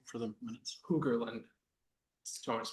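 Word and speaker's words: Hogerland: Huggerland. Do you want to spell it?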